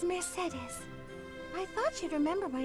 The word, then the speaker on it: Mercedes: There was somebody in my middle school who was named Mercedes, which is also why I say it like that and not the way that it is said in the game.